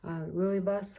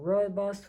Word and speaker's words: rooibos: more caffeine free one like Rooibos or robust or Ruby some people pronounce it whichever way but sometimes they are